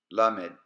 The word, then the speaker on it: lamed: Kaf, Lamed, Mim, Nun, Samech. Once again. Kaf, Lamed, Mim, Nun, Zamech. Now repeat after me. Kaf, Lamed, Mim, Nun, Zamech.